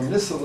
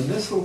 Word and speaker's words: Nissl: of their name so nissle is spelled n i SS L sort of anti-intuitive I guess you should